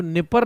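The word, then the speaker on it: Dnieper: और यूक्रेन की राजधानी कीव निपर नदी के किनारे बसी हुई है। डी साइलेंट रहेगा, निपर रिवर या निपर नदी।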